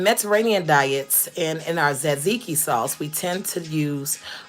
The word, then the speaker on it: tzatziki: It's actually spelled with a T, but the T is silent, so we say tzatziki.